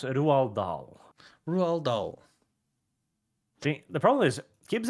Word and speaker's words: Roald Dahl: Pronounce Roald Dahl. Roald Dahl.